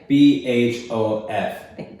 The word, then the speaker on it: BHOF: BHOF. Good job. BHF. BHF. Like the huff. But with a B.